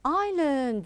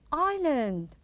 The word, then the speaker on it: island: have i have an island very good island island now notice the s here is silent we don't pronounce it now next what do